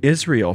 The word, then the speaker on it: Israel: And brought out Israel from among them. Well, who is Israel? Well, you are Israel. Remember, Israel is at 3 syllables, and each syllable means something.